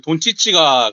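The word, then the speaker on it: Dončić: 그 돈치치가 그 DONCIC지 않습니까? CIC. 네네. 네, 근데 CIC에서 그쪽 동네 발음으로 하면 그 치치가 되는데, 네네.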